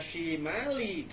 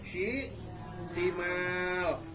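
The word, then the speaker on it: الشِّمَالِ: Jadi bukan dibaca syimali, dibacanya disukunkan jadi syi simal.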